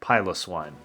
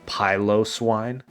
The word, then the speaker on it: Piloswine: EVO into Piloswine Piloswine pilos swine I don't know how to actually pronounce that correctly uh Nuzlocke police do your thing we you said that name wrong it's actually pronounced a pyo swine educate yourself this gym